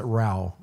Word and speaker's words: Rao: Rao like Ra. Basically, yeah, they pronounce it Rao.